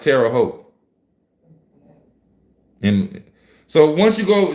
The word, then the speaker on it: Terre Haute: The name is commonly pronounced Terre Haute.